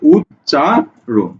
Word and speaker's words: উচ্চারণ: উচ চা, সরি যোগ দিচ্ছি কেন, উচ চা, তারপরে কি? রোন, রৌকার দন্তন্য, উৎ চা, উৎ চা রোন, ঠিক আছে?